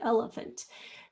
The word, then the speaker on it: elephant: Some people say the short E sound. Some people do say the schwa there too, elephant. But the third one is definitely going to be a schwa. And it's spelled with the letter A.